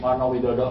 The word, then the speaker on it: Warnowidodo: My name is Warnowidodo. Congratulations, just now you pronounce my surname correctly.